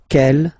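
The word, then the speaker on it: quelle: same way and then the feminine form is written like that q l l but it's pronounced like the masculine form Kell at the masculine k at the feminine okay so it's basically same pronunciation okay and then here we've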